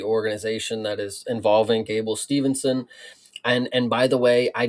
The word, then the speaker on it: Steveson: I've heard people I've heard people pronounce it Steveson, so I don't know if that if that is better for you or if that's more correct. But yeah, Steveson is how I've heard it pronounced and how I pronounce it.